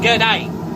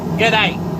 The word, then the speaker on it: g'day: And that's how to pronounce it too, g'day. It's like good day without the ud, g'day.